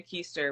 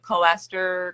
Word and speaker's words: Keister: First of all, everybody mispronounces it, so like you never, Like, that's kind of good because you kind of get to like fly under for a little bit because nobody usually pronounces it right. They're like coester, I thought it coester, was or coaster like at first. I'm like, oh hey. coaster, coester, coester.